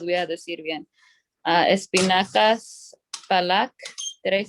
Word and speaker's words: palak: las pronuncian en India, y no las quiero pronunciar porque no sé si las voy a decir bien. Espinacas palak, did I say that right?